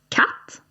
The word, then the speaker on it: katt: And we can also say "katt".